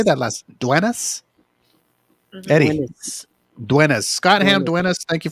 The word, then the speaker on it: Duenas: Duenas.